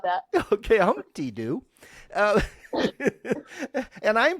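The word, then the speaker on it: Humpty Doo: fun that was fun I like that okay hump T do and I'm pronouncing it right yes Humpty do yes that's it okay that is absolutely perfect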